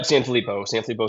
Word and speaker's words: Sanfilippo: Yep, Sanfilippo syndrome.